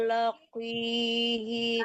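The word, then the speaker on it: لاقيه: lagi Ibu, qaf besar itu tetap tebal ya, walaupun kasrah ya, tetap bacanya tebal, tapi enggak setebal baris atau baris di atas atau baris depan. Tapi tetap tebal, jangan dibaca qaf kecil ya. Fahuwa laqi, jangan ki, tapi ya ki.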